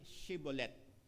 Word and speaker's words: Shibboleth: When he said no, they said to him, "Then say Shibboleth." And he said, wala pong H, no?